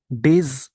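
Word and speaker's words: days: डेज, इसको डेज का pronunciation ये होता है ज, जेड वाला ज।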